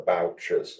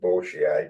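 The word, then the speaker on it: Bourchier: into which he marries the bouches or or the bourier depending on your preferred pronunciation ation this this these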